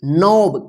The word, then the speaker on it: knob: देखिए यहां पे KNOB, इसको क्या पढ़ेंगे, नॉब। कनॉब नहीं पढ़िएगा, ठीक है।